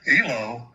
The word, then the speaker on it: Elois: The actual pronunc pronunciation of it is like Eloise. Okay. And um how I came to be known as what you've probably heard more than any is elo um is when the